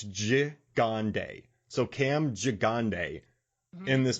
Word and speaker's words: Gigandet: Now, while watching this movie, I got to tell you, man, so I phonetically wrote his name down and I listened to an interview, but it's Gigandet.